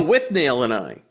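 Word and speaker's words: Withnail and I: Is it Whitnull and I or With Null and I? Oh, With Nail and Eye.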